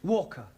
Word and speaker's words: Walker: more all that Mrs vka is keeping me busy Anna do this Anna do that she is a slave driver at vka Walker v w is pronounced W your employer's name is Walker yeah vka do you